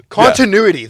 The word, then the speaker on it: continuity: Continuity. That's what I was trying to say. Continuity. Okay. God, I was just like skipping a whole syllable though in my brain every time I went to say it.